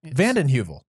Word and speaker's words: Vanden Heuvel: not been an evil it's easy it's evil vanden Heuvel van and evil male because where does